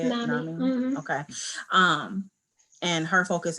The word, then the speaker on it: NAMI: NAMI.